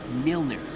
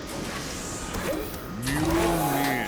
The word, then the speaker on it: Mjolnir: Milner. Mjolnir.